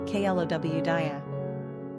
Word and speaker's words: Claudia: Today, the name Claudia is particularly popular in Spain and Catalonia, where it's a top 10 favorite and pronounced Claudia.